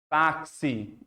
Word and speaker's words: táxi: Táxi. Você está pronunciando no X o som de KS.